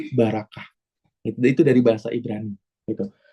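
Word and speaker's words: ברכה: Kalau di Ibrani itu barakah, atau dari bahasa aslinya beraukau, gitu ya, dibacanya barakah.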